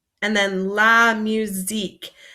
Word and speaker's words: musique: T and then La musique this sound might be a little bit hard because it makes a z sound instead of this s so it's like musique and then lastly we